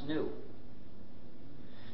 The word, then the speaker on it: GNU: the reason is because according to the dictionary the g is silent and it's pronounced new so anytime you were